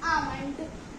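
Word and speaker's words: almond: हम सब इसे आमंड बोलते हैं, बट एल इसमें हमको साइलेंट रखना है, इसमें हमको एल को प्रोनाउंस नहीं करना है। इसकी सही प्रोनाउंसिएशन है आमंड।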